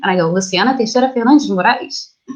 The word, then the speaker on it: Luciana: time here they go like oh wait that pronounced me your name and i go luciana they set up their luncheon it sounded a